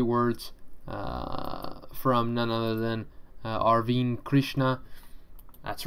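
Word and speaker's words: Arvind Krishna: here are obviously words from none other than arvine krishna that's right that's how you say it folks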